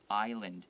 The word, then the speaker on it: island: The S is silent, island.